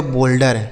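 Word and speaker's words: boulder: उच्चारण होगा लेकिन उसी ओ यू के साथ अगर एल लिख दिया हो तो ओ का उच्चारण हो गया जैसे सोल बोल बोल्ड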